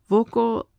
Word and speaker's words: voco: I call actually that should probably pronounced vocal because you don't put a stress on the on the last thing on the final syllable.